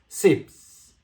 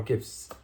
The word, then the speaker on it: CIPS: This will settle via China's renminbi cross-border payment system known as CIPS or KIPS, depends on how you pronounce it.